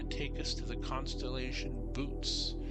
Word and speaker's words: Boötes: And what the saying is, we're gonna arc to Arcturus, and that's gonna take us to the constellation Bootes. Yes, that's exactly how it's pronounced, Bootes.